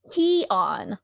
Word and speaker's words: Cian: That sounds like peon. Yeah, well, pee on this, Kelly. It's Cian.